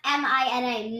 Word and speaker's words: Mina: It's pronounced M-I-N-A, Mina. That's right. Mina. You tell TTG Sunshine that. Like, Yeah. Tell them, Minna. like M-I-N-A. M-I-N. Not Mina. It's M-I-N-A.